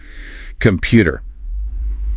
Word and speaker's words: computer: Computer. Pause. Where did you put it? It's computer. Second syllable. Feel that little push.